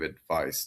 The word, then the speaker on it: advice: The first one, advice, and the other one, advise, Z That sound.